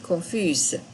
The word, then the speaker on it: confuse: You don't pronounce the S if you're a boy, describing yourself or someone who's a boy, confus. If you're a girl, then you do. You add the E, confuse. Je suis confuse.